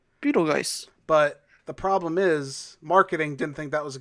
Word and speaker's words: Betelgeuse: the perfect amount a name in the movie is spelled b-e-t-e-l-g-e-u-s-e beetle guys beetle geiss but the problem is marketing didn't think that